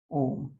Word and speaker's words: ओम: तो प्लुत स्वर का उदाहरण देख लीजिए, जैसे ओम, ओम को ऐसे लिखते हैं ओम, इसका उच्चारण है ओम।